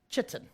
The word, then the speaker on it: chitin: different from your teacher a lot of people say it differently but i always call it chitten right the nice way